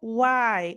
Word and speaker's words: why: Depois a gente tem aqui, por último, why. O why é bem sotaque mineirinho, ó.